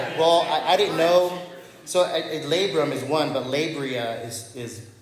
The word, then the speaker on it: labrum: I didn't tear my labia, but it sounds like that. Who's ever in the medical field, whatever it's called? Labrum. Okay, thank you. Yeah. I'll share a quick story. Well, I didn't know. So labrum is one, but labria is plural, right?